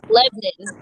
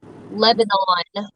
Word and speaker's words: Lebanon: y'all come through here it's lebanon not lebanon or whatever else you gotta unpronunciate it a little bit how do y'all like